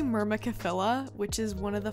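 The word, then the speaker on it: Myrmecophila: or a different genus i think it's pronounced mirror micellar mirror michela it's actually myrmakafilla which is one of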